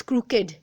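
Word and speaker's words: crooked: This is नॉट क्रूक, this is क्रूकेड, ठीक है ना.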